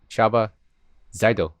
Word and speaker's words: Csaba Zajdó: and for people listening that's chava zydo right yes you have a very nice pronunciation all right not too